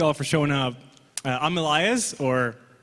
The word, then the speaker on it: Elajjaz: for showing up I'm Elias or Ella Jazz as most people like to call me it is Elias though the J is silent and I mainly specialize